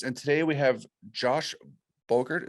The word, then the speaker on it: Bogert: Hey everybody, it's Tom here with Hidden Beats, and today we have Josh Bogert. Is that how you pronounce your last name? Yeah, Bogert rhymes with yogurt.